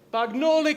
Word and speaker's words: Bagnoli: where I could, do the whole Bagnoli. I mean, if Colonel St. Marie was up here, there'd be this whole Bagnoli Italian thing that... Buongiorno, Generale! Signore e signori, è pronunciato Bagnoli Comunicazione.